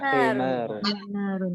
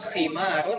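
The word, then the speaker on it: حمار: Jangan ketukar ya. Khimarun sama himarun. himar. Kalau himar pakai ha, maknanya adalah keledai. Kalau pakai kho, maknanya adalah kerudung jilbab.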